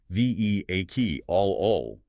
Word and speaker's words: vehicle: The challenge here is the silent h and the reduced vowels. While you might try to pronounce all four syllables, the standard British pronunciation is reduced to three.